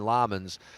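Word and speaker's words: Lammens: I say Lemons and they're going Lamans.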